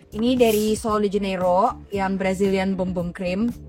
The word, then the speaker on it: Bum Bum Cream: Ini dari Sol de Janeiro, yang Brazilian Bum Bum Cream. Actually emang it pronounced Bum Bum Cream. Gue juga baru tahu. Ya, just discovered. Iya, karena biasanya orang kayak bum bum bam bam.